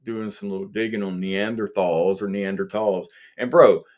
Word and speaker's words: Neanderthal: ancestors um you know I always thought it was pronounced Neanderthal but it's actually neander tall um or that's how these other people were pronouncing it but